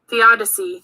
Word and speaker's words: theodicy: a word if i don't wanna say it theodicy theodicy okay the odyssey godfrey lebman has invented